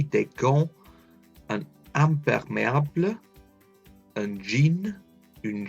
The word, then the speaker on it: gants: Don't pronounce that T. Des gants.